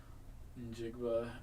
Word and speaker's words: Njigba: Oh, so the N is silent? Yeah. Or, well, I guess it's not. No, it's not. It's more of an IN. Yeah. Njigba out of Ohio State.